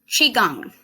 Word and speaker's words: qigong: Qigong. So I know that doesn't look like it's spelled, but Qigong is practice